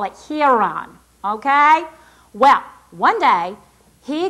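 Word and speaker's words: Hieron: And for lack of a better pronunciation, we're going to call it Hon.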